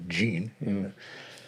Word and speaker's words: Jean: U he asked uh Jean is her name kind of a French French pronunciation Jean to uh to ask